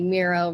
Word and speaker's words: Miro: But I saw LinkedIn posts where the LinkedIn profile for Miro, they commented on someone asking about that and they were like Miro rhymes with hero.